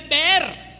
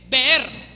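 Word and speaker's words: באר: le dije que para decir pozo se dice ver b e r ver para decir cisterna se dice bor b o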